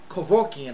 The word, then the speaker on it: Kevorkian: A doctor called Kevorkian, I believe. That's how he pronounced it.